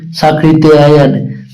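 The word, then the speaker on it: सांकृत्यायन: आप सही हो जाएगी तो इसका बोलने से बता रहा हूं साकृत या य होता है इसमें त आता है और उसके बाद में या और यह लगता है।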